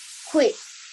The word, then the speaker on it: quake: Quake. Or give me a long A sound.